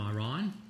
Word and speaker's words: Iran: We had people from Iran. And that is how you say it. It's not Iran. Iran is doing this.